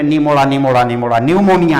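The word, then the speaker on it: pneumonia: अब आप गाना नहीं गाने लगेगा बर्थडे में, निमोड़ा निमोड़ा निमोड़ा, न्यूमोनिया है, पी से स्पेलिंग शुरू होता है, लेकिन पढ़ते हैं न्यूमोनिया।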